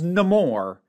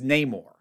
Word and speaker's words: Namor: had been mispronounced like they first find out about him when he introduces himself as no more and they immediately start referring to him as neymore I don't know if